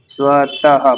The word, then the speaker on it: स्वतः: विसर्ग का उच्चारण अघोष ह व्यंजन के समान है, जैसे स्वतः, स्वतः पढ़ने में ही आएगा स्वतः, अह जैसा।